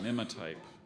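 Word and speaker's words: mimotype: know his coffee order is there any alternate pronunciation there's just the one Mima type both parts went from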